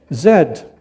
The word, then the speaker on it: Z: hat a Chesterfield is a couch and it's pronounced Z naught Z Zed Canada is the second largest landmass the first